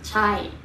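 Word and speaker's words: ใช่: Chai.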